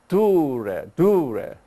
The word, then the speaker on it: Tyre: In Tyre, that is also English, but Y pronounces sometimes in Greek it's U, so it's dure, yeah.